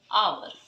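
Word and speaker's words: hour: यूज़ करेंगे, लेकिन नहीं, यहाँ पर एच जो होता है साइलेंट होता है और इसको पढ़ा जाएगा आवर, यानी कि।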